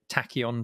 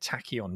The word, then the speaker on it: Tachyon: pronouncing this right john is it tachyon dreams that's exactly right h y o n tacky on dreams do we know what tachyon means that's a star trek word neil oh is it tachyon impulse there's there's something